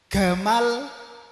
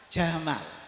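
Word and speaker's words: جمال: Makanya presidennya dulu ada yang bernama Gamal Abdul Nasir. Itu aslinya Jamal.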